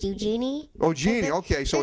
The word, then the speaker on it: Eugenie: I actually think it's pronounced Eugenie.